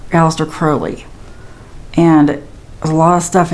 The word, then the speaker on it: Aleister Crowley: I was pronouncing it wrong. It was it's Aleister Crowley.